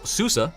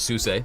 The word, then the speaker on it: SUSE: them open Susa Linux now Susa not suse I say it wrong a lot in this video so I'm actually corrected by this guy right here it's Susa they are a global